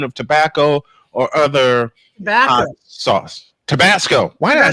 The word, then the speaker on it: Tabasco: I mispronounced it. It's Tabasco sauce.